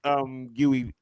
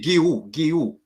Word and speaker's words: Guiu: I think Mark Guiu. I know that's not how you say his name, but that's how I say it. So everybody else thinking, why is he saying? I actually got corrected. It's actually Guiu.